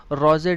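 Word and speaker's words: Rouget: Compose किया था पोएट रोजे डी लेजली ने। लाइजली भी पढ़ देते हैं, लीजली भी पढ़ देते हैं, फ्रेंच नेम है रोजे, टी साइलेंट होता है, डी लेजली।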